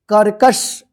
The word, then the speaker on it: कर्कश: श, तो इसको पढ़ेंगे कर्कश। इस क के ऊपर है आधा र यानी रेफ की मात्रा, तो इसका उच्चारण जो है ना, पहला जो क है इसके बाद होगा आधा र।